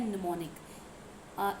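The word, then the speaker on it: mnemonic: उसको हम बोलते हैं निमोनिक इसकी स्पेलिंग इंपोर्टेंट है जोक एम से स्टार्ट होती है एन से नहीं क्या स्पेलिंग है एम एन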